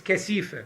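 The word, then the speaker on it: كثيفة: The latifa permeates the kathifa. In order to taste the latifa, you start from the kathifa, because that's what we are. And in Persian, if you pronounce it the Persian way, it is kasifa, which means dirt, which is also true.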